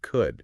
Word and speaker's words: could: But people literally shoved a silent L into the word could just to make it visually match should and would on the printed page.